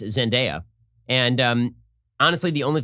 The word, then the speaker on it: Zendaya: holland and uh i've been informed that it's pronounced zendaya and um honestly the only thing about this